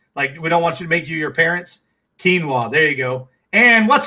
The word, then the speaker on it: quinoa: Sam says pronounced quinoa.